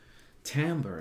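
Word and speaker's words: timbre: you have uh this T tber tamber it's the right pronunciation slider so that's going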